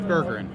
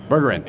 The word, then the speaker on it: Bergeren: is it Jesse Spade, Dusty Pack, and Bergeren? Did I? I'm going to butcher it. You butchered it in slow motion. How did you Close. do that? Burger. What's the correct pronunciation? It's Bergerin. Bergerin.